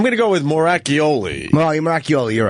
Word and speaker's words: Moracchioli: Moracchioli, you're right.